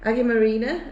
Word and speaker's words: Αγία Μαρίνα: swimming pool um Jordan Jordan is produced it's pronounced Aggie Marina and it means Santa Marina ah good okay